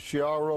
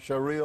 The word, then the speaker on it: Sharia: Tell us a little bit about how do you pronounce it? Shara law. Sharia law.